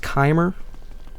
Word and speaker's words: Chimer: It's pronounced Chimer.